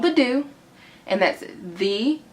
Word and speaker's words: The Doux: in so ya called the do and that's the like normal D and the D o u X and it's pronounced the do and it says it on the back of the jar I'll insert some b-roll